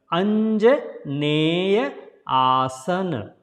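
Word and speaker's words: Anjaneyasana: Okay, then another standing pose, Anjaneyaasana. So it is not Anja or Neya, it's a Anja, and E here will be pronounced as a A. So Anjaneya. Anjaneyaasana.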